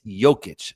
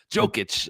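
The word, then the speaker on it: Jokić: It's Jokic, not Jokic. You're not itching a joke. It's Jokic. Joic. Joic. It's a soft J. Come on. Like it drives me absolutely crazy. Jokic.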